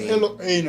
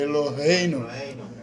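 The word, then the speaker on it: אלוהינו: Não é Eloheinu, é Eloheinu. Eloheinu.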